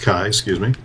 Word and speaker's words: chi: It comes from the Greek letter chi, or chai, which looks like an X, pronounced chi, like the first syllable in kayak.